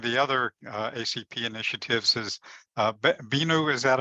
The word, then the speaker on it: Binu: So one of the other ACP initiatives is Binu. Is that how you pronounce your name? Am I pronouncing it correctly? Binu, yes, correct.